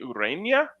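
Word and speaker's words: Ureña: They've got, correct me if I'm wrong here, Jose Urena on the mound. Yep. Great job pronouncing that. Enye.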